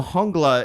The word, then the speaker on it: Jungla: So Hongla is spelled Jungle.